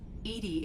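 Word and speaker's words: EDI: are you named Ed Ed is the phonetic pronunciation of e i that is an acronym for enhanced defense intelligence what do you do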